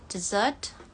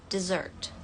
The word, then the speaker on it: dessert: Dessert or dessert. Untuk contoh kalimatnya, maybe we should have ice cream for dessert. Maybe we should have ice cream for dessert. Dessert ya. Untuk yang kedua yang di bawah ini, meskipun katanya tulisannya mirip ya, tapi beda pengucapannya. Desert. Desert. Desert. Kalau yang di atas tadi kan dessert atau dessert. Yang di bawah ini desert.